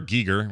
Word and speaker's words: Giger: It looks like H.R. Giger, which I found out by watching a documentary is how you really say his name.